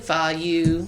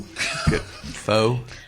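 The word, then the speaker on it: Phở: No, we went we went to Good Fu. Fo.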